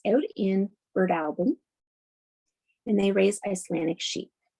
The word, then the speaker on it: Breadalbane: Most people, if you're not from PEI, you'll call that Breadalbane, but it's actually pronounced Birdalbin.